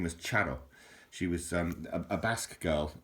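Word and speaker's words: Txaro: And Charo is spelt T-X-A-R-O.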